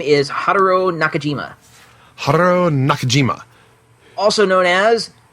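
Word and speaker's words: Haruo Nakajima: that I pulled up that had somebody else pronouncing it his name is Haro Nakajima Haro Nakajima also known as man in suit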